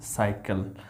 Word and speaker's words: cycle: अब देखो सी के बाद यहाँ पे वाई है, इसका उच्चारण क्या हो रहा है, साइकिल, CYCLE। सी वाई को हम क्या बोल रहे हैं, सा।